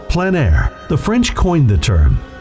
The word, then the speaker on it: plein air: of outdoor painting, called plein air. The French coined the term, which means open air or outdoors. The French pronounce it plein air. Others say plein air. No matter how you say it, there is a